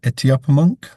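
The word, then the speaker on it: Etuaptmumk: it reminds me, and I'll say it wrong, Lewis, but it since I have been introduced to Etiopamunk, Right.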